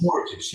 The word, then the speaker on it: Borges: How do you say your last name? Is it Borges or It's Borges? Borges, yeah, Borges. Borges. Okay. So like gorgeous, but There Borges.